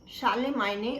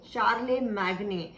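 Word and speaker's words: Charlemagne: Actually आप यहाँ पे स्पेलिंग्स में इसको पढ़ेंगे चार्लेमैग्ने, और शानसून जिसे मैं बोल रही हूँ एक्चुअली चैंसन दी जस्ट है।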